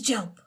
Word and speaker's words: Jelp: hi my name is job it's pronounced like help but with aj my family and friends